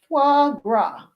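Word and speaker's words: foie gras: Example, this is pronounced fu fu fuagra.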